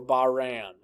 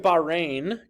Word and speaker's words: Bahrain: others number three the country of Bahrain or Bahrain I prefer Bahrain the country of Bahrain consists of a large island as well as smaller ones country of Bahrain is ruled by a